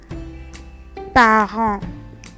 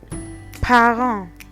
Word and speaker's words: parent: We have parent. Parent, parents. You see that in English we have ent, but in French is parent, parent.